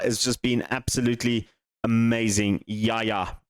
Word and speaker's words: Yahaya: So, I might sell him out because Yahaya has just been absolutely amazing. Yaya basically is how you actually pronounce it.